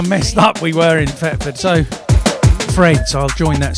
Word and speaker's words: Thetford: See, I'm from Thetford, which sounds like it's with an F, but it is actually spelt with a TH.